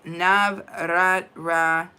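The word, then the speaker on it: Navratri: Xerox says Navratra, just simple. Okay, Navratra.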